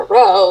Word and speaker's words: row: Alright, take the R off it. Say you stubbed your toe, what would you say? You'd say ow, right?